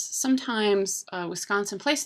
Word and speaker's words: Wisconsin: is pronounced W Wisconsin another thing you can do wrong is you can emphasize that second syllable Wisconsin well if we hear